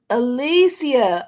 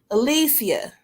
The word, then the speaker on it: Alicia: Cassie how are you Alicia I'm sorry that's how you say it Alicia Alicia I said it